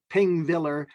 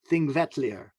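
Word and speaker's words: Þingvellir: It looks like Pingvellir, but it's pronounced Thingvellir.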